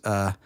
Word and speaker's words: Chiwetel: on a trip to Yosemite where he discovers Chiwetel Ejiofor.